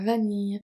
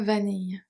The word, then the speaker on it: vanille: Chocolat, noté at the end, chocolat, et à la vanille, vanille. So the E is silent.